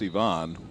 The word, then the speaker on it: Yvonne: last time you know I call him Ivan angel but I know it's Yvonne and I certainly don't